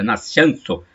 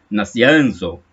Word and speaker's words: Nazianzo: Acredito que a pronúncia deve ser parecida, Nascianzo, Nazianzo. Escreve-se Nazianzo, São Cesário de Nazianzo.